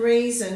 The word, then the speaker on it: reason: there now season and reason you have to remember it has o n on the end even though we don't pronounce it as on we tend to give it a schwa sound so we're going season